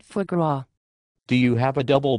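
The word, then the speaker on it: foie gras: I am pretty sure it is pronounced for grow.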